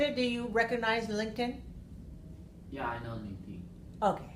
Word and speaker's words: LinkedIn: We have link, and then we have tin. So LinkedIn. Right, LinkedIn is the way you should learn to hear it, right?